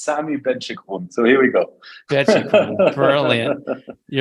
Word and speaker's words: Sami Benchekroun: name very good so it's here and it's Sami benchikon so here we go brilliant yours uh you're